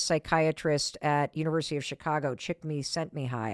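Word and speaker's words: Csikszentmihalyi: at University of Chicago chick me sent me high I think is how you say his name and activation energy is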